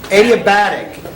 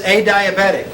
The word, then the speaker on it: adiabatic: you pronounce it 880 that's pretty close adiabatic adiabatic and that's pretty good though usually somebody says a diabetic ate adiabatic adiabatic means q equals